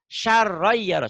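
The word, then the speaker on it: خَيْرًا يَرَهُ: Tanwin ketemu ya. Saron jadi saroy. Saroy yaroh.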